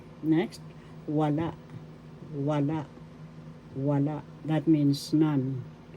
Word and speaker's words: wala: Wala. Wala. That means none. First syllable wa. Second syllable la. The second syllable has the accent.